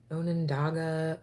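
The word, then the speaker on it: Onondaga: I don't even know I always say it wrong but it's like oh yeah I'll know next season um it's called like Onan onenandaga o-n-o-n-d-a-g-a um but it's a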